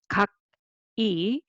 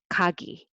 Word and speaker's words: 각이: So it's not kak-i, but kagi, kagi. And it is also kak